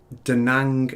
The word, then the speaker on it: Da Nang: know to be true it was at the da nang airfield da nang have i pronounced that right yes yeah right so um